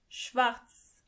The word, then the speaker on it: schwarz: Black means schwarz, schwarz. As you can see, the letter R is not pronounced as R, but more like R.